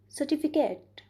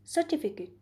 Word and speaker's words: certificate: For example, let's take a word सर्टिफिकेट. Am I right or wrong? Yes, this is the wrong pronunciation of this word. The right pronunciation of this word is certificate. So, here we can see that in the right pronunciation of this word, the syllable TI is prominently pronounced.